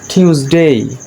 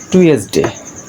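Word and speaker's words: Tuesday: তারপরে টিউসডে, টিউসডে, আমরা সাধারণত একই করি টুয়েসডে, বাট it will be টিউসডে, টিউসডে।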